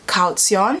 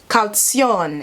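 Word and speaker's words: Kaution: how google pronounces it calcium it kind of extends the tion i was saying calcium calcium again you can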